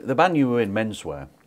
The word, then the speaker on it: Menswear: The band you were in, Menswear, I never quite knew how to pronounce it. Have I done it? It's just Menswear. You sure? I always go for Menswear, I don't know why.